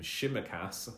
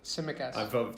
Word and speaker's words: Tsimikas: this issue of, I'm going to try and pronounce his name, Tsimikas. I think that's how. Yep. Tsimikas.